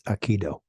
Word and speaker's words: Aikido: Aki Dao, the Aki of the Dao, which is now in martial arts pronounced as Aikido.